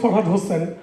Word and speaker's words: ফরহাদ হোসেন: ওর নামটা হচ্ছে সাদাত হোসাইন, কে আর আমি হচ্ছে ফরহাদ হোসেন। যদিও ইংরেজিতে স্পেলিং একই রকম, কিন্তু প্রোনাউন্সিয়েশন একটু ডিফারেন্ট।